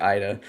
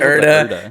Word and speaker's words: Erda: or Psych calls it Ida. It pisses me off because you call it Erda. Psych calls it Ida, and I'm like, it's right there. Like it's spelled. It's 4 fucking letters.